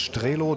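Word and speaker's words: Strelow: Er wollte unbedingt wissen, ja, wird er denn wirklich Strelov ausgesprochen? Oder nein, habe ich gesagt, Strelo.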